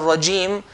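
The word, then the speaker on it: الرجيم: la mina sh-shaytani r-rajim make sure the word of regime we don't make a nasalization son it sounds coming from the nose the sound that comes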